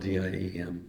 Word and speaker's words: Diệm: The president was named Ngo Dinh Diem, spelled D-I-E-M, but pronounced Diem.